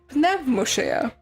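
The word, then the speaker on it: Pneumousia: So, Numusia. Or if you actually speak the language it originates from, Pneumosia. Because pneuma and usia.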